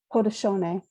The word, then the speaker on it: Haudenosaunee: Micmac, you've met the Anishinaabe, you've met the Haudenosaunee. Is that how you say it? Somebody correct me. Haudenosaunee.